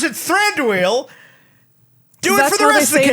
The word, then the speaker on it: Thranduil: go the full Monty and have him be Thranduil with those weird ass antlers.